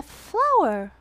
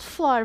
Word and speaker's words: flour: You say a flour. The right. How you say it? Right. Flour. Not floor. Floor is where I'm stepping.